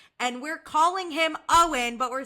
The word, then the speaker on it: Eoin: I'm saying it's pronounced Owen but spelled Eon which Okay, let me read the review first.